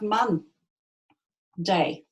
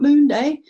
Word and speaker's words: Monday: It lost an O somewhere in translation, and now we just have Mon Day. And even the pronunciation of it changed as well. It's not Moon Day, it's Monday.